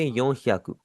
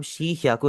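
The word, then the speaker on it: 四百: और जैसे हमने पहले देखा था 40 को हम शीजू नहीं कह सकते, 400 को हम शी ह्याकू नहीं कह सकते। यहाँ पर भी आपने योन का ही इस्तेमाल करना है, और उसके आगे आप ह्याकू लगा लेंगे, ये बन जाएगा यो ह्याकू।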